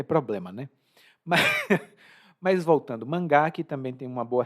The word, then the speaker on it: mangá: ou seja a os mangás são muito populares também e aqui observe a pronúncia mangá não é manga mas mangá o Gá é a silaba acentuada a manga você come